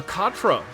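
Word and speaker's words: Quatre: door okay great uh Katra is how quarter is pronounced I like how I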